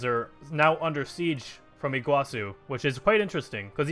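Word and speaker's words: Iguaçu: very few divisions okay looks like we have a guaçu which apparently it's actually pronounced Iguazu thank you for in the comments by the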